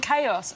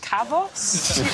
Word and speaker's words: Kavos: like Oh holidaymakers in chaos I think it's pronounced kavos Andrew who broke out